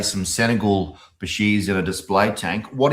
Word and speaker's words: Bichir: Bircher, just because we're Australian, we pronounce things wrong. Bichir is, I think Bichir is the right way to say it. I think Biker is the way the Latins pronounce it, because you know everything's scientific in Latin.